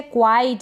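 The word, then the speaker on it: quite: Next है क्वाइट, इसको क्विट ना पढ़ें, क्वाइट, क्वीन, क्विज और क्वेरल।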